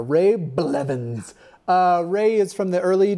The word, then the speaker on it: Blevins: I feel like you should hit the blah a little harder. Ray Blevins.